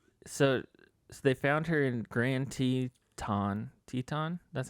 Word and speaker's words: Grand Teton: __ ] yeah so they found her in grand teton that's how you say it wyoming yep national